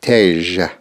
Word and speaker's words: tj: This symbol looks a bit like a hobble. It is pronounced tej. Tej. Tej. TJ. Tej.